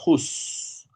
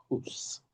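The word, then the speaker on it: whose: En español digo de quién, en inglés diría whus. Así como se escribe, wh o s. Hus.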